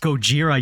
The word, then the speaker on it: Gojira: like the little gag where she says it's pronounced Gojira yoron yeah so she got backstabbed realizes her